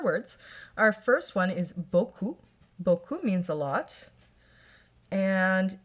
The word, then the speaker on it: beaucoup: And of course the P is silent, so it's going to be in parentheses, because it's the silent letter. So, j'ai mangé beaucoup de bonbons.